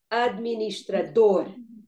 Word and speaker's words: administrador: I especially gave you a very big word because it just to understand that the stress is on the last syllable.